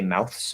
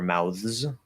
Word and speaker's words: mouths: when you're using the plural with the s you can say mouths or mouths voiced or voiceless th it doesn't matter if you use the voiced th it's going to change the s into a z sound mouths mouths uh either way is fine but there's also the